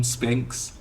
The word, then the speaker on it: Sphinx: can said it right my name is Spinx Spinx yeah oh wow Spinx I I I pronounce it like vegetable I'm not I'm not